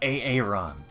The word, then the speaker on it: Aron: I'd probably say it like Aron. Oh, Although Aaron like Aaron? Yeah. Aron. No, the way it's supposed to be said, the name is Aaron.